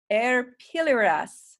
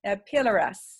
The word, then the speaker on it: arpilleras: try to pronounce it the two L's make a you sound so it's a dirty your air it air pillar s a pillar s I think it's how